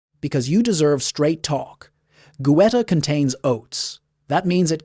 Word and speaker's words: goetta: In Cincinnati and across into Kentucky, German families brought over a dish called goetta, pronounced goetta.